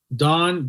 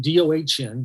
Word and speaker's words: Dohn: go on my web YouTube I'm at um Don dohn make sure my name is spelled d-o-h-n uh the infinite wealth strategist okay